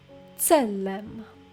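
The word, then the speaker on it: צלם: next noun is selam Salem again if you find it hard to pronounce this s sound try to think of the word pizza so the sound from Pizza try to pronounce it in Salem Salem Salem means image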